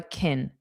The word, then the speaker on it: can: So can is a modal verb. It's not the main verb. Because of that, it's unstressed and is more of a kin kin.